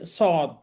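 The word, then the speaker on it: صاد: উচ্চারণটা এখানে দেওয়া আছে সদ জিহ্বার আগা সামনের নিচের দাঁতের আগা থেকে শীষ সহ মোটাভাবে আদায় হয় মোটাভাবে উচ্চারণ করতে হবে সদ জিহুবার আগা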